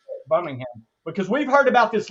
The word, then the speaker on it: Birmingham: And then we want to get on the Amtrak and go to Birmingham, because that's how they say it, Birmingham.